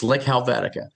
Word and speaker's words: Slik Helvetika: But we do try, we spell it phonetically. So those are all consonants. It's Slik Helvetika.